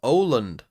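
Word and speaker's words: Åland: __ ] that's annoying it's pronounced Oland yeah I don't yeah you can all you can all spell it with your little circle above an a I I have no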